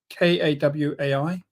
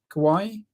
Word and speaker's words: Kawai: my eye on and that's a I can't pronounce it properly it's k a w AI Kawaii Kawai yeah Ka and they do like a